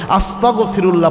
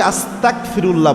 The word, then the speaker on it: আস্তাগফিরুল্লাহ: গয়িন যে উচ্চারণ, এটার উচ্চারণ হবে আপনার গ দিয়ে, ক খ গ, এই গ দিয়ে উচ্চারণ করতে হবে। অনেকে আস্তাগফিরুল্লাহ বলে, ক দিয়ে উচ্চারণ করে।